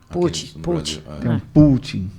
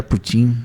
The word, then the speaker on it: Putin: pronúncia mas você não você fala tem como putt-putt mas é Putin eu aprendi então é